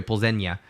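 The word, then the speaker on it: Plzeň: the first time Victoria pozenia everybody's been saying Victoria uh pulls him or pulls makes sense a little teal day on the end yeah look at me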